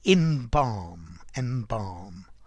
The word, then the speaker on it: embalm: To embalm. Notice the L is silent, like calm or palm, that LM.